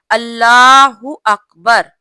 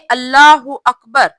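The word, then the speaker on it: الله أكبر: नमाज में अल्लाहू अकबर ये वर्ड काफी यूज होता है, लेकिन इसके तलफ्फुज में हम गलती करते हैं। और वो गलती क्या है, गौर कीजिएगा। तकरीबन अक्सर मेरी बहनें ये गलती करती हैं। रुकू में जाते हुए हम लोग क्या बोलते हैं, अल्लाह अकबर। कुछ मेरी बहनें कहती हैं अल्लाह अकबर, अल्लाह अकबर। ये गलत है। कुछ लोग बोलते हैं अल्लाह अकबर, ये भी गलत है।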